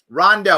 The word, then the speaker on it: Rondeau: Did I say it right? Rondeau. I knew that I was testing you to see if you would say it correctly, and you did.